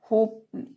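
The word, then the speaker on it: hope: means गुलाब next है होप होप एच ओ पी ई होप होप means आशा होता है यहां पर भी ई साइलेंट है और पी कॉन्सोनेंट है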